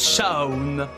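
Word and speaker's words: Seam: jacques bangou de toi je m'appelle mais ça se prononce chaw chao est ce et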